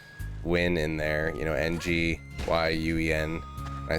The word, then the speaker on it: Nguyen: Somebody also had the Vietnamese name Nguyen in there, you know, Nguyen.